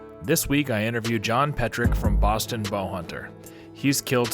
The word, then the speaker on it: Petryk: We're sitting in my house in Massachusetts, and got Jon Petryk. Is that how you say it? Yep, Petryk. Yep.